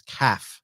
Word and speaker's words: Kath: and his wife Kath he pronounces his his wife's name is calf even though it's Kath so yeah he said they